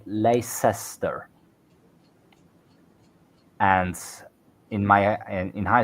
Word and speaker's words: Leicester: sure is still watching if you're having trouble with Leicester check out Worcester and gler um sauce they've got the same but Lester also has the Lei